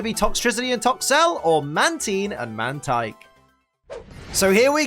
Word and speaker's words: Mantine: I believe it's pronounced Mantine. Some people say Mantine, but I've been led to believe that Mantine is incorrect. So I'm going to be saying Mantine for the foreseeable future.